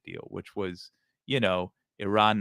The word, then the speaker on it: Iran: Iran that uh uh let me say it correctly Iran uh that uh Donald